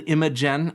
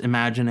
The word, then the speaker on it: Imagen: Also, Imagine AI, which it's spelled Imagen, and I in my head, and I still say Imagen, but it's pronounced Imagine AI.